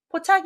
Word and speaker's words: 포착: 되겠어요 읽어보세요 한번 읽으셨나요 답은 포착 입니다 재촉할 촉 짜로 하셔서 포 초기 라고 하실 수 있는데요 앞에다가 사람인 변을 붙이면 재촉할 초기 되는건 맞습니다 그래서 포차 아니라 고르셔야 되구요 어떤 기회를 잡았을